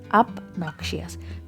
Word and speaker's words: obnoxious: obnoxious, यहाँ ध्यान दीजिए, ओ को ओ नहीं कहेंगे, आ कहेंगे प्रोनाउंसिएशन में। सो obnoxious।